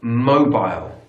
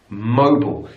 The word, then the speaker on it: mobile: British English would say mobile, mobile. So the stress on the first syllable, and mobile, aisle. American English, mobile, mobile. So the stress is also on the first syllable, but it's bull, not aisle, bull, mobile.